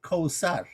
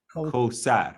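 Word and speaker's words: Kawthar: Now the TH is a transliteration of the sound is S. Qawsar. Although that's a system. In the system of in that system of transliteration, and the Arabic pronunciation is TH, Qawsar, but the letter.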